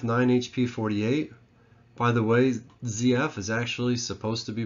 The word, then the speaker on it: ZF: 48 by the way zf is actually supposed to be pronounced zf i guess that's the way the germans say their z's is like a zed and that's the company